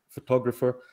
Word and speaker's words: photographer: For example, I used to stress the first syllable in the word photographer until I noticed that it's actually stressed on the second syllable.